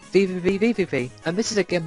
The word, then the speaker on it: VVVVVV: Number 171 is VVVVVV, if that's how you pronounce it. I've also heard it being pronounced as just V, but I call it VVVVVV.